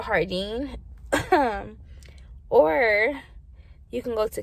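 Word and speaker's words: Jardin: to planet 13 or i say jordan because it's spelled j-a-r-d-i-n but it's really like hardine so you can go to hardine or you can go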